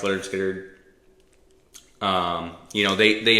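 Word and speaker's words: Lynyrd Skynyrd: is sounds of the self Leonard skinnard uh pronounced leard skard um you know they they eventually went on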